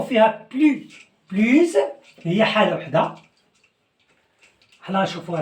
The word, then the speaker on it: plus: فاش كيكون ادجيكتيف مبدوء بفويال هنايا بلو كنطقوها بلوز.